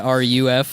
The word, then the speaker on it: Ruf: Yes, there's no O's in the word that he's saying. He's saying RUF or something like that.